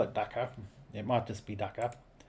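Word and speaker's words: dukkha: So, docker. So, it pronounces it like docker.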